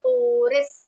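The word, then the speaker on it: oris: उसका नाम है ओरबिकलरिस ओरिस।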